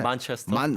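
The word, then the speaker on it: Manchester: 네, 요것도 권주현 씨에게 한번 발음을 들어봐야 되는데 만체스터.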